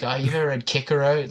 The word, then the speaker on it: Cicero: a sentence, you're like, "Oh, you've ever read Kickaro?"